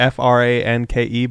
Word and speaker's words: Franke: Franke, but the E is silent. You don't pronounce it when you say it, it's just Frank.